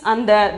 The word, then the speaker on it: अंदर: 12th one is andar. In the, see here the in is half. Then only you have to pronounce it as consonant sound. Then andar. The pronunciation is andar.